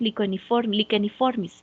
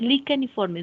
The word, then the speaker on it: licheniformis: La C y la H juntas se pronuncian como una K. Mismo caso para Bacillus licheniformis. Es licheniformis, no licheniformis.